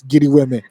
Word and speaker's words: GRWM: Giri Weme is called Get Ready With Me, GRWM. But we pronounce it here in Nigeria for the streets, Giri Weme.